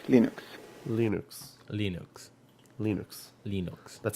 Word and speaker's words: Linux: is your cleaners and i pronounce linux as linux linux linux linux linux